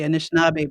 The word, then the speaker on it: Anishinaabe: only your pronunciation because i always hear anishinabe but you're saying initial now beck anishinabek is like plural so you would say anishinaabe people or anishinabek okay great and now